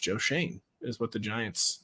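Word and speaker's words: Schoen: says Joe Shane is now his name is pronounced Joe Shane is what the Giants said other people say show in it's one of those last names people will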